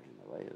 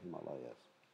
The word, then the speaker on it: Himalayas: Or Himalayas or Himalayas. I think correct pronunciation, the Himalayas. If there was a long A, it would be Himalayas. Himalayas.